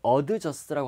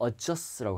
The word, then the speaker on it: adjust: 이런 adjust 발음이 adjust라고 하지 말고 adjust라고 하면 돼요. adjust D를 받침으로 넣으세요.